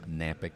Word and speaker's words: Knapik: to my name Knapp ik that's K and API K the K is silent nampyk radio shows